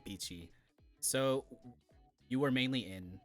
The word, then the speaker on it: Piqi: But yeah, so it's Piqi. Like I don't know, like Chi Pao.